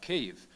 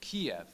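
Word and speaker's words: Kyiv: was i was uh talking about cave and referencing it with the proper ukrainian pronunciation and then somebody came up to me and said oh you know i don't really know what you're talking about don't you mean kiev you know that's which is the russian like colonial pronunciation of of our capital and i said no no that you know that's that's the incorrect pronunciation that person wouldn't accept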